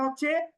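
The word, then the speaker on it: حا: টেনে উচ্চারণ করব জিম এরপরে যদি হা বলি আমরা তো হা লিখতে শুধুমাত্র বাংলা হ বর্ণটা আমরা ব্যবহার করি সুতরাং হা উচ্চারণ করার সময় আমরা অতিরিক্ত টান দিব না হা একালিফ পরিমাণ টান এরপরে খ বর্ণ লিখতেও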